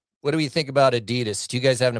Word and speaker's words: Adidas: on Adidas now that Gary, it's Adidas. Adidas. I learned that from David Beckham. Learned that from David Beckham. This is international soccer. I learned that from David Beckham, and so you have to pronounce it that way.